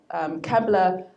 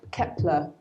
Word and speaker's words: Kepler: and this is a snapshot of the NASA Kevlar earth planet that they actually eventually found and it's called Kepler saying it wrong kepler-186f that could be your